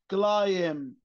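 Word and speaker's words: climb: تنطق زي كلمه ايه كلايم كلايم خلي بالك لما تلاقي الام لازقه في البي البي ما بتنطق لا تنطق كلايم كلايم ل ل كمان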